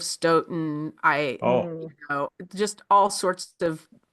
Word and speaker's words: Stoughton: I said Stoughton instead of Stoughton.